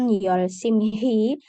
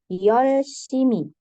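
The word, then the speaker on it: 열심히: akan dibaca lemah Luruh Jadi Bu Bukan yolsim hi tapi yolsimi seolah-olah hiatnya tidak ada oke nah kita coba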